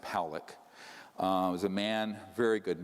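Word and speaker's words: Pawelec: thousand views this man william pollock is pronounced pollock was a man very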